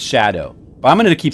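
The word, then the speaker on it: Scadu: I mean, apparently it's pronounced shadow, but I'm going to keep saying Scottu. A scadoo fragment on the hand.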